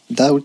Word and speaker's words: doubt: absence hideout donc l'appareil le b il est muet attention à la prononciation également doubt ça veut dire doute